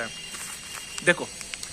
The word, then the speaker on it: हिंदी: हिंदी, मैं हिंदी को ऐसा वो करता हूँ, प्रोनाउंस है ना, हिंदी नहीं करता मैं। देखो हिंदी हमारी लैंग्वेज है। एक बार किसी ने बोला था, कोई वो कहाँ का था, बार्सिलोना का, कि सर एच साइलेंट होता है। बोल मुझे पता है भाई एच साइलेंट होता है, लेकिन हिंदी तो हमारे शब्द है, मैं क्यों एच साइलेंट करूँ।